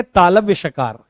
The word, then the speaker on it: तालव्य शकार: इसका नाम है तालव्य शकार। क्या नाम है? तालव्य शकार। इसको क्या कहते हैं? तालव्य शकार। यानी इसका उच्चारण कहां से होता है?